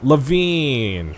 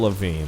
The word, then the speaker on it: Levine: term loosely rock star look Levine like Avril Lavigne there we go Adam Levine Avril Lavigne I thought they were married they spell it differently who would I